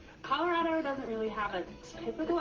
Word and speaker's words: Colorado: People from California kind of have they say Colorado doesn't really have a typical accent. Lots of people say that it has no accent, but you'll definitely get called out if you say Colorado. It's Colorado. I've been told from people